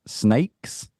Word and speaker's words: SNAYX: Pronounce SNAYX?